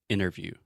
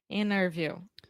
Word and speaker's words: interview: English, but in general, when we say interviews, I do not pronounce the T. So I'm not saying interview, I'm saying interview. Interview. It's so hard. Interview.